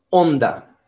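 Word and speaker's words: Honda: ella como bondad pero curiosa h en portugués y además en español no es pronunciada así que me parece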